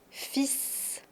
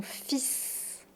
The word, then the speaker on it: fils: Donc on va dire mon fils. Mon fils. Mes fils. Attention, on ne prononce pas le L.